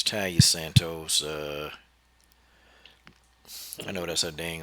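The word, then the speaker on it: Taila Santos: It's Talia Santos.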